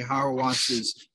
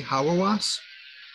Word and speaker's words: Hauerwas: I did just finish a chapter, and I'm almost done now I've been reading Stanley Hauerwas's A Peaceable Kingdom.